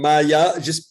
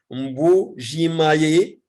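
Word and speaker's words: Mbuji-Mayi: Il est assistant à l'université de Maya. Attendez, parce que toujours je le prononce mal. Mbujimaye.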